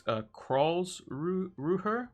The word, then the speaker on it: Karlsruhe: Heiss, who's gone to, I think it's Karlsruhe, I think it's how you pronounce it, in Bundesliga 2.